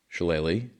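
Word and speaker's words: shillelagh: Okay, first of all, this is pronounced challe. Google told me shalle is a Gaelic English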